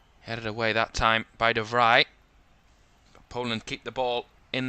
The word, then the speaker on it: de Vrij: That's going to be the difficulty, because I've just remembered that it's Stefan De Vrij, not De Vrij. Dutch don't pronounce their J's in that same way.